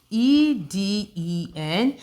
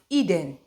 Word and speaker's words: Eden: I have E-D-E-N. How do you pronounce this word? It is pronounced Eden, Eden.